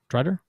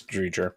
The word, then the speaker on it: Driedger: How do you say his last name? Drider? Chris Driedger. Dreger. I think it's Dreger, maybe Dreger. Dreiger. Okay, He was good in Florida.